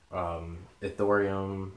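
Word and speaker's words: Ethereum: crashing bitcoins crashing lithium the thorium I believe that's what it's pronounced like litecoin ripple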